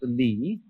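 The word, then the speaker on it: 理: you remember this word which is pronounced Lee and which had as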